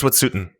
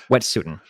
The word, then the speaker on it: Wet'suwet'en: Do you know how to pronounce the name of their tribe? It's Wet'suwet'en. Wet'suwet'en.